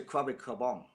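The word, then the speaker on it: Krabi Krabong: When I go to Thailand, they say Krabi Kabong.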